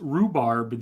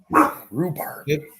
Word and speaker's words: rhubarb: the correct answer is rhubarb the h is silent rhubarb that's what they refer